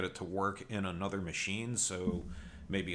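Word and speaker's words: Maciej: I believe Machi is how you pronounce his name. I googled it, looked for some Polish pronunciation stuff because I feel bad butchering people's names, but I think Machi is the correct pronunciation.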